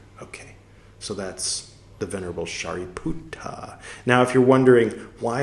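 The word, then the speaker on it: Sāriputta: shuta a character okay so that's the venerable shuta now if you're wondering why is he pronouncing shariputra so strangely it's because paully originally it was dhama not daughter m originally it was shuta not shariputra Sanskrit poly a little different okay continuing um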